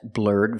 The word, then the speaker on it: blurred: So I can say she has blurred vision. Or I can say she has blurry vision. Pronunciation, blurred. The ED makes the D sound at the end. Blurred, blurred.